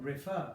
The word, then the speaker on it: refer: I'm not saying refer I'm saying refer I am stressing the back of it now I would double